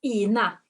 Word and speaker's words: Ina: Okay, do you pronounce your name Ina? Ina? No, it's Ina.